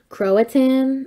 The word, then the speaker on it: Croatan: greatest Indian tribal chief, Croatan, I think is pronounced. But apparently that's where he's... No, not Croatoan. Croatan, maybe. Different. Yeah, Croatoan's different, but he was the leader of that tribe.